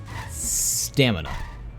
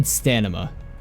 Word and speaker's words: stamina: can't pronounce it right stamina i've always said stanima with an n not stamina with an m um and someone taught